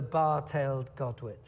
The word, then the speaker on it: bar-tailed godwit: it properly for you this time is the bar-tailed Godwit it makes the longest trip ever known from